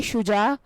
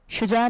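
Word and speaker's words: Shuja: एस ए एम मानी है शेर नाम है शुजा स्पेलिंग है एस एच यू जे ए सुजा नाम के उर्दू माने है बहादुर और नदर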